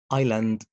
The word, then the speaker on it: island: آخر الكلام بس يكون صامت زي isle isle island core okay silent letter طيب بالنسبة لحرف الـ T في بعض